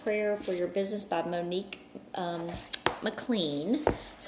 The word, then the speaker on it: Monique McLean: We are going through this 21 days of prayer for your business by Monique McLean.